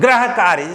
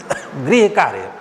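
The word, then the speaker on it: गृह: लोग गलती करते हैं लोग कहते हैं ग्रह कार्य से आपको होमवर्क मिला हिंदी में सुग्रह कार्य कर देते हैं ग्रह कार्य नहीं है वो है ग्रह कार्य ग्रह कार्य शुद्ध होगा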